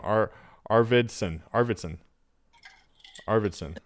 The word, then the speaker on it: Arvidsson: sarah's last name our arvidsson arvidsson arvidsson the art aardvarkson is how you pronounce it arvardson aard varsin it's like kind of like the animal but it's a-r-v-i-d i know i'm just